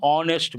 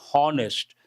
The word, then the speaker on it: honest: An honest man, not honest. H is silent.